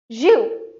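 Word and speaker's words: jus: not pronounced as because S here is silent but we pronounce it as zu.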